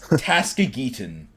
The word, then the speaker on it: Tason: be two distinct things Tas Tason is the pronunciation I'm calling you Taskmaster